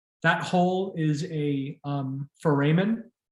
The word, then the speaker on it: foramen: hole is a um foramen it's pronounced foramen for amen heads up plural of